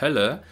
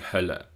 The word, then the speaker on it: Hölle: hier rechts zu sehen bei den Wörtern Höhle und Hölle kann man sehr schön den Unterschied zwischen dem langen gespannten övokal und dem kurzen ungespannten övokal hören die Höhle die Hölle und auch bei mögen